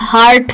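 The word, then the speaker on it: heart: Dark हार्ट हम लोग यहां पे कई कई लोग हार्ट को बहुत गलत प्रोनाउंस करते हैं। हम हार्ट कहते हैं। जहां आर बहुत ज्यादा होता है।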